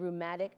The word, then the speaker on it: Rheumatic: They join us today to share important information regarding arthritis, along with the signs and symptoms associated with arthritis and rheumatic disease.